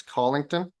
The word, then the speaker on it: Colington: continue okay so and I I pronounced this community wrong last time it's colington is that yes okay